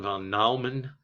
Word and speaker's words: von Neumann: John von Neumann. That's how you pronounce that.